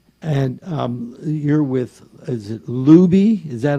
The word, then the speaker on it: Lubee: And you're with, is it Lubee? Is that how you pronounce it?